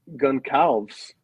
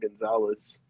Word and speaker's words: Goncalves: Goncalves. Think that's how you say that? That is. I'm from America. That's not Gonzalez.